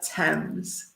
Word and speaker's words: Thames: And the pronunciation of the river? The River Thames. The River Thames, yeah, Thames.